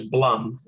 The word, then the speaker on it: Blum: so first of all my last name is blum just think of it as as rhyming with drum or or dumb i apologize so let